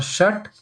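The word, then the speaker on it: षट्: For shat, a should not come because this marker is telling there is no a. So we'll say shat, but not for now.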